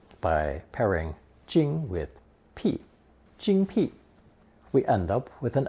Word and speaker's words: 精: In Lesson 52, we saw the rice radical, mi, combined with the qing phonetic, pronounced first tone, jing.